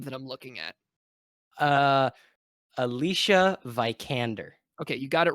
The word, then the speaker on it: Alicia Vikander: I don't really remember correcting you on Alicia Vikander.